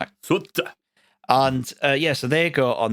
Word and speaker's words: Souta: Souta. Souter. Souta. Outer, yeah. It's pronounced completely different in Japanese. Suta.